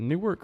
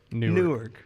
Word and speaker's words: Newark: week in New York New Jersey so he pronounces it new work on New York New York Newark Newark New Jersey that wasn't real that was